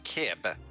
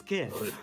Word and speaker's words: Kib: here is is it Keb Keb KBB Deb it's it's kib come on one syllable it can't be that hard yes kib you'd be surprised this